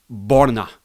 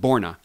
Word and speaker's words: Borna: The first name is very important with Coric because it's Borna. It's not Borna, it's Borna. Borna Coric.